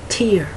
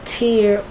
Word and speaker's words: tear: said oh tear so the part of speech tells me at least enough information so that I can have an idea of how to pronounce it because otherwise I might look at the word and I'll say tear someone else might look at that same word with nothing to give you any kind of hint and that person might say tear the reason that I can pronounce it tier or tear is that all vowels